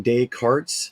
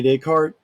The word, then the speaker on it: Descartes: chapter 17 Rene Descartes I know some of you are thinking de cartes nope Rene Descartes you don't the S is silent and then 18 Hobbes